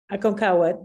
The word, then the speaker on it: Aconcagua: Sylvia, how do you pronounce it? Aconcagua? Aconcagua, that's right, the tallest mountain in South America.